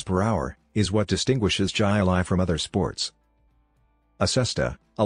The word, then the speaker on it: jai alai: boxing co-patted three jilai Jai Lai pronounce hilai is that strange-looking competition